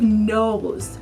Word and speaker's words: nose: And there's a silent letter on the end of nose.